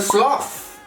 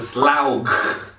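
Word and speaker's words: Slough: people the right thing there is a sloth oh no it's not a sloth it's a slag wait we just learned something the gh at the end of a word goes silent so what is it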